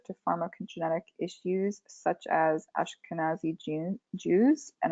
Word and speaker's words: Ashkenazi: pharmacogenetic issues such as ashkenazi gene jews and i probably butchered their pronunciation of that no you got it yes yeah and they